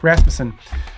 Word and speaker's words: Rasmussen: Rasmussen. Yeah, I just do all the syllables together. Rasmussen.